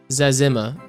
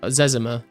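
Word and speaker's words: Zezima: He said it's Zimmer. Uh Zimmer.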